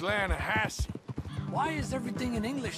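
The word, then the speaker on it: Lannahechee: the other day I rode down to the Lana Hetchy River I caught some beautiful steelhead trout you made an Alanis no no no the Lana hatch it runs right near here yeah but it's pronounced Lana Hass why is everything in English said differently than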